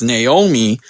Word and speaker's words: Naomi: we had no Naomi sorry I said it wrong my last podcast my co-host pointed that out it's Naomi um thanks corporate Cappy